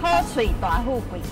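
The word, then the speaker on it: 好嘴大富貴: 来，我们听一下正确的发音。好嘴大富贵。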